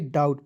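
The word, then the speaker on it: doubt: टी डाउट नहीं पढ़िए यहां पर बी को साइलेंट करेंगे डाउट पढ़ेंगे ठीक है डब्लू ओड आर वाई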